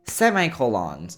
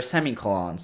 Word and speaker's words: semicolon: Semicolons or semicolons, depending on how you say it.